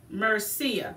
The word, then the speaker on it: Mercier: Mercier? Yeah, Allura Mercier, not Allura.